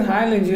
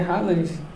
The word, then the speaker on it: Haaland: É, eu pronuncio Haaland, é Haaland.